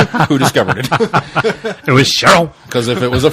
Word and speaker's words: Charon: Charon? Sharon. Charon. Yeah, I did it right. Sharon. Sharon. Charon? Sharon. Charon? Who does here's the key. Who discovered it? It was Sharon.